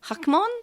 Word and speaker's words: Hackmon: thing that sticks to it well it's actually hakmon yeah i know which is not how you pronounced it yeah i think it would have